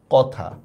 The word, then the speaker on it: কথা: তাহলে কথা শব্দের উচ্চারণটা কি হবে বলেন তো? যা আছে তাই, কথা।